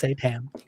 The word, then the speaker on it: seitan: It's Seitan.